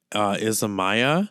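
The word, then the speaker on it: Isamaya: This is from, I always forget how to pronounce this brand. So it's Izamaya.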